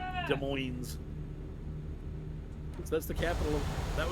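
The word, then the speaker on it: Des Moines: So, is it pronounced Demo? I'm just kidding. De Moines.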